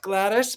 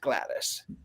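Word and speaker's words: Gladys: So, and even when you when you when you phonetically in the UK you would call her Aunt Glattis, but she's not in the UK. She's American. She's aunt Glattis, which I find to be rather fascinating as well.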